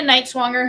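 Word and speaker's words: Nighswonger: wait and see and then we've got Jenna KN swanger who Kelsey was very scared to pronounce her name but that is how you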